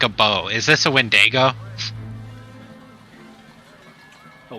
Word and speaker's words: Wendigo: Is this a Wendigo? A Wendigo? Sure. Yeah, that's how it's pronounced.